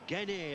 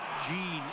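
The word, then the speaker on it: Gene: about that Stan Stanley Jean there or G as his name is pronounced in in Pap Guinea but everywhere else Jean it is and that's a bad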